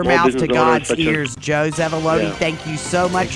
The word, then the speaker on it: Zevuloni: Well, Joe Zevuloni, an unusual name, rhymes with baloney, and we are so happy that you're here.